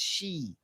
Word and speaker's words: Xi: G is pronounced she. Isn't it? I think she's she?